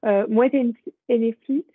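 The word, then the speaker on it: Moët Hennessy: Et on a une autre entreprise, donc là, alors, ça je le prononce bien, Moet Hennessy, donc c'est une entreprise de vin et de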